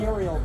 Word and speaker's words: ethereal: ethereal mist rather Oh, ethereal. It's pronounced E the real. Oh. Ethereal. Right? Ethereal? than Ethereal. Not ethereal, E the real.